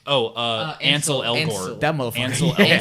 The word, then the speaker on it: Ansel Elgort: Angle Escort. Oh, Ansel Elgort.